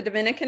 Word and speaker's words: Dominica: still a lot of people who don't know Dominica but um often getting mixed up with the Dominican Republic you see the orange star on the